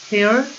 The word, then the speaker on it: tear: 이게 눈물이란 단어가 tear 이렇게 쓰지. 근데 요건 찢다의 뜻일 때는 발음이 달라. tear, tore, torn.